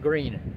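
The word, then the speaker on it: Gruene: I think it's pronounced Green.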